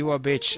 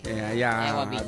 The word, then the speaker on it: Ewa Beach: Yes, and to our friend, EJ Apo, Honolulu, Hawaii, specifically DJ Iwa Beach. Nalipatak nga isugayam DJ topic. Iwa Beach. Iwa? Ewang ko. E-W-A. Ewa Beach.